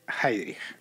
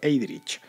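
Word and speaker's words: Heydrich: la novela va sobre heidrich heidrich es unos reinhard heidrich heidrich es escrito os lo deletreo por si queréis buscarlo es h e yd r i c h en español Sería pronunciado heidrich bueno pues es es uno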